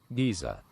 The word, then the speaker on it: geyser: Tapiox says Giza. Giza! The UK pronunciation.